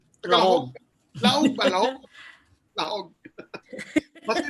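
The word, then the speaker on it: Lajog: Lahog, L-A-J-O-G. Apparently, it's pronounced Lahog. Lahog.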